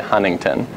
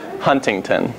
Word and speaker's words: Huntington: I know I'm humming tainot that hardcore I pronounce the second - so I say Huntington not Huntington which is anyways so that's some funny things